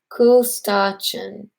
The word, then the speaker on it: Kustachin: My last name is not typically pronounced. It's Kustachin.